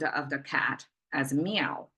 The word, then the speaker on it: 猫: this cat symbol is meow pronounced as meow Rising tone and Chinese we just